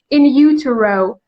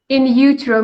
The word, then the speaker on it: in utero: of in you uh what was the pronunciation in utero in utero means outside the uh uterus in utero ut ero okay uh-huh so in vitro